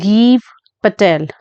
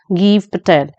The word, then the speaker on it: Gieve Patel: First of all, the name of this person, it is tricky to pronounce the name of this person. It is Geev Patel. Geev Patel.